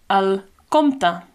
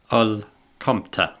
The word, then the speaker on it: el compte: The word for bill is simply el compte. El compte.